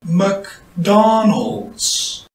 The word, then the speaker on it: McDonald's: 영어 원어민은 맥도날드를 일반적으로 이렇게 발음합니다. McDonald's. McDonald's. McDonald's. McDonald's라고 하지 않고 McDonald's라고 한다는 거죠.